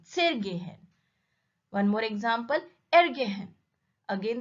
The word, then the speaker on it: zergehen: Where is the stress on gehen? When we say zergehen, there is no stress. Zer comes suddenly and then followed by the gehen. So stress is on the verb gehen, zergehen.